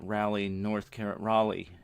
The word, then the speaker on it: Raleigh: We'll be heading down south to Raleigh, as it's pronounced, North Carolina, and then Birmingham, Alabama, and also New Orleans.